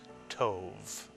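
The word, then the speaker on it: טוב: How would you pronounce this one-syllable Hebrew word? Tov is correct, or tov.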